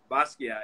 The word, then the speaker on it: Basquiat: That one of my favorites is the, I'm going to pronounce this wrong, but was it the Basquiat? Is that what you did? Basquiat, yeah.